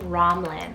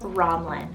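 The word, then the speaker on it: Romlyn: for sending this one in is the name romlin r-o-m-l-y-n romlin this one's a mashup name meaning lofty lake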